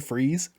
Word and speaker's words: Fries: It's pronounced Or- freeze though.